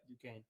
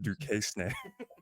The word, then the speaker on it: Duquesne: yeah, Duquesne. Oh, the S is silent, I guess. I almost said Duquesne.